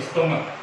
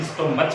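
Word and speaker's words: stomach: नहीं कर रहा है, यहाँ पर क का उच्चारण कर रहा है। इसके अलावा वो एक और शब्द जैसे हम देखते हैं स्टोमक, अंतिम जो वर्ड है माफ कीजिएगा जो वर्ण है वो स्टोमक है ना कि स्टोमच बोलते हैं इसको।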